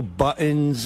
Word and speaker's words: buttons: It's buttons. T. You got to say a T.